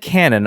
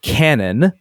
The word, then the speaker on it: Canon: is not like English Canon like a shooting it out of Canon but something close to Canon with the no slightly nasalized and again very slight delay before the n Sound note that neither syllable in both Nikon and Canon I'm not saying it the way he's telling me to is accented both should have the same emphasis and then he tells